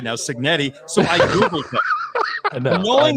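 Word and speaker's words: Cignetti: I want to say Arignetti. I got to say it right now, Signetti.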